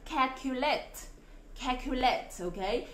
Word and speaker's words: calculate: Tiếp là chúng ta có từ calculate, ok? Tại sao cái âm a này lại được phát âm là a?